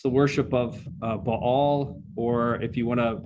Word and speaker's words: Baal: It's the worship of Baal, or if you want to English mispronounce it, Baal.